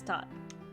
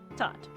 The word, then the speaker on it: Tot: I'm asking you to take Marcus to this toot. It's Tot. I was going to anyway. Well, get some rest before you go. I'm sure Ted needs time to prepare. It's Tot.